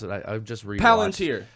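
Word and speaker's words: palantír: Palantir. Palantir. Yeah. The L is where the emphasis is.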